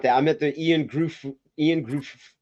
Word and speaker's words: Gruffudd: I meant the Ian Groof. Ian Groof. How do you say his name? Ian Gruffudd. You Ian got it. Gruffudd.